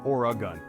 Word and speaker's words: Oregon: to this Pacific Paradise remember it's or a gun no extra syllables needed our next destination